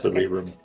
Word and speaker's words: Cerebrum: Yep, that's Cerebrum. That's correct. That's how you say it.